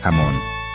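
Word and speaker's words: jamón: H is silent. Huevos. Huevos. Ye sounds like ach, jamon.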